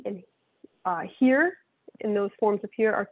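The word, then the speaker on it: hir: long e and uh here and those forms appear are typically pronounced like the english word here h-e-r-e so z here z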